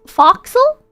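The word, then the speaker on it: forecastle: pronounced gunnel for Castle is pronounced foxel what is this what's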